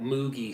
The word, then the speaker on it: Moog: That moogy sound or moog I guess is how the man's name was actually pronounced.